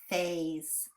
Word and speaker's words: phase: A, Z. Did you hear that that S makes the Z sound? So we should actually have a line through it. And our E is silent. Phase.